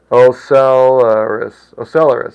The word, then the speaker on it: ocellaris: Pronunciation. Ocellaris, okay.